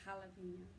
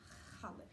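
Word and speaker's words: jalapeño: Because you pronounce the J's like H's, Yeah. so Like jalapeno. jalapeno.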